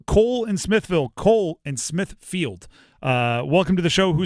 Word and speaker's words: Smithfield: I say Smithfield wrong every time. My elementary school was Smithville, and because of that, there's no way I'm saying Smithfield. Smithville it rolls off the tongue, so I know I'm saying it wrong, and I do my